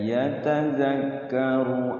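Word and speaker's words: يتذكر: Ru-nya pendek. Yatadhakkaru aw yakhsha. Qawlan layyinan la'allahu yatadhakkaru.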